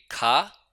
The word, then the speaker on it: K: के को हम पढ़ेंगे खा। साउंड इसकी वही रहेगी जैसे इंग्लिश में होती है।